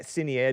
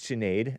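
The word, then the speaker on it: Sinéad: anglicization of a cad it's not Sinead it's chenade I think I guess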